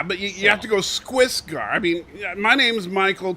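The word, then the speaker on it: Skwisgaar: a cartoon called Metalocalypse, and it's Squisgar. Squisgar, really? Squiss with a K. Squisgar. Squisgar. You couldn't call yourself Fred or something. Well, yeah, but you have to go Squisgar.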